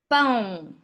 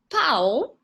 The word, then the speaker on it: pão: Don't confuse in terms of this and the sound, pau and pão. Because if you're in a restaurant and you say that you want bread, eu quero pão, and some people tend to pronounce it pau, it actually means that you want stick, and stick can have a very interesting connotation.